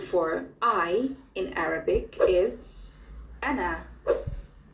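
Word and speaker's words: أنا: it the word for i in arabic is an an an an an an ana repeat after me ana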